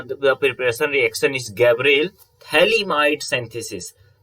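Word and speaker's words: phthalimide: preparation reaction is gabriel thaliamide synthesis if you will see here ph is silent in gabriel synthesis okay gabriel thalam thalamites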